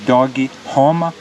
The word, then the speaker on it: Dog Roma: It is a restaurant that is called, in English you could say Dog Roma, but in Portuguese they say Doggy Roma. That's how in Brazil they pronounce it.